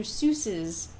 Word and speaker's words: Seuss: middle name is so but the pseudonym Dr Seuss is pronounced Seuss he has officially said yeah later